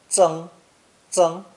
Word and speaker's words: 曾: It's pronounced second tone, ceng, ceng, and sometimes first tone, zeng, zeng, when it's a surname.